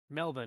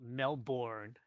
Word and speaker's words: Melbourne: Like, prime example, Melbourne. It's Melbourne. It's not Melbourne. In other words, don't So- pronounce all the letters.